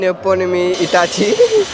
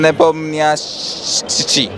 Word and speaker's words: Nepomniachtchi: Nepomniachtchi. Very close, but yeah, I think 1 out of 1. Ian Neponymi Itachi. Okay. Ian Nepomniachtchi.